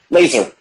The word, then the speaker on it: Lazer: czar like who is lazar laser so laser sorry yeah that's how they say it in canada he's uh he's